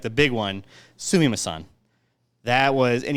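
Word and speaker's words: すみません: But the one, like the big one, sumimasen. That was, and you gotta say it like a little like sumimasen. You almost have to have like a little like a feminine tone to the whole thing, just because it's just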